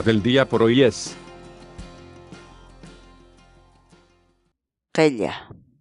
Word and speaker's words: qilla: de videos en la que te enseñamos a pronunciar algunas palabras en quechua. Así que nuestra palabra del día por hoy es qella, qella, qella, la palabra quechua.